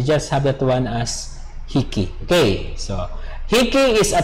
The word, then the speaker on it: hickey: No, I believe it is much pronounced as hickey. Maybe we just edit this one. No. Okay. Just edit this one. So this is hickey, but not hickory.